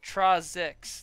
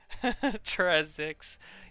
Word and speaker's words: Trazix: So it's pronounced Trazix, the name. Okay, alright. Yeah, there's no way in hell I would ever guess that it was pronounced that. Trazix.